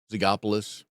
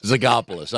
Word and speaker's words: Zogopoulos: Odds are good you've never run across that name, Zogopoulos.